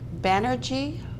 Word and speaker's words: Banerjee: all righty before you how do you pronounce your last name bannery like energy and I have a